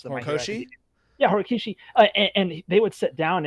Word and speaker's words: Horikoshi: How do you pronounce the Horikoshi? Yeah, Horikishi.